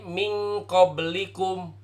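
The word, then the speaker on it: مِنْ قَبْلِكُمْ: contoh yang lain disini Min qoblikum dibacanya harus jadi Ming qoblikum bukan pakai sore hidung tapi di samar-samar Khan baik kemudian seperti Huruf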